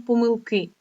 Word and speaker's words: помилки: знаків наголосу на словом помилки на словом помилки у нас лише один наголос на останню голосну літеру И покажи як треба його